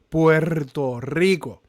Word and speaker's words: Puerto Rico: Puerto Rico with R's. Rr. You gotta roll your R's. Rr. Puerto Rico.